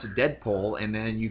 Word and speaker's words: Deadpool: the proposed Deadpool fil Deadpool let me let me try deadpol pool thank you not dead pole we could start a